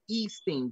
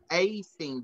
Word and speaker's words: A-STEAM: I always want to say E-Steam Village. So that's why I never say it, because I don't want to say it wrong. It's A-Steam Village.